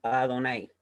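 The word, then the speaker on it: Adonai: de esas cuatro consonantes un judío observante de la torá cierto esas cuatro consonantes la pronuncia como a donaire ya siguiendo así una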